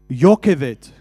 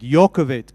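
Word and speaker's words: Jochebed: And so Moses's mother's name was Jokebet. Now Jokebet in the Hebrew language is actually pronounced as Yokevet. That's the right way to say it. Yokovet.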